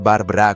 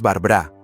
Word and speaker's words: Barbra: "No es Barbara con sonido de Zata", le corrigió. Es Barbá, sin la segunda a y con el énfasis en la primera sílaba.